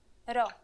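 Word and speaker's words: rho: You'll just have to remember to pronounce this letter as an R. Here's the uppercase Ro. It is handwritten like this. Ro.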